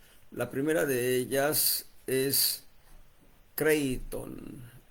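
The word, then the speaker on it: κρείττων: La primera de ellas es Creiton. ¿Cómo suena? Creiton. K R E I latina W T O N CON La el acento lo lleva la letra I para dividir el tongo Citon K R E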